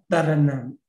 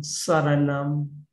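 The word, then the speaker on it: saraṇaṃ: And sa. Yeah, international Pali pronunciation sa, but in Myanmar, ta. That is why Buddha Taranam. In Myanmar, pronounced that Buddha Taranam Gisami. But international Pali pronunciation, Buddham Saranam.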